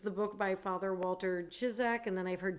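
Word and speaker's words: Ciszek: popularity and so i've heard his last name pronounced two ways it's the book by father walter chizzak and then i've heard chisek so one of those two and what's the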